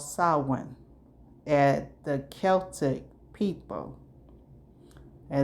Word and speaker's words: Celtic: called Samhain and the Celtic people. And it's pronounced Celtic. It's not pronounced Celtic. It's pronounced Celtic people.